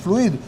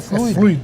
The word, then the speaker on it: fluido: o fluído ah Professor mas existe fluído se for o particípio do verbo fluir Mas se for o substantivo é fluido fluido é verade professor eu